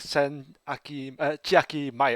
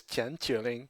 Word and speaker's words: 千秋令: even pronounce this because i can't go with the japanese pronunciation because that would make sense make sense yes that would be like send aki mai or something like that i was like that does make sense right yeah yeah i agree so i had to look up the chinese pronunciation and it apparently is chen chuling and aesthetic wise indeed